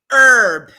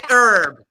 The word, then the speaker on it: herb: do like what's this herb you say herb it's not herb the H is silent no no no no